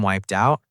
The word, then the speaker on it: wiped out: Notice the connection. Native speakers don't stop between the two words. They often say wiped out. Almost like one word.